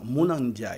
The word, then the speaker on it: Mouna Ndiaye: Donc, bien prononcé. C'est ça, Mouna Ndiaye. Absolument, Mouna Ndiaye.